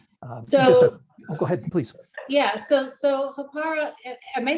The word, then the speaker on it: Hāpara: There's a little trill in the R that's unlike anything I've experienced, say, in Spanish or Italian or the Romance languages, that I can't quite get.